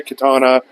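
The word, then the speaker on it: Kattana: kids are Cody Levi Katana uh like katana like the katana like the like the weapon no it's spelled different k a TT A N A anyway then there's Wyatt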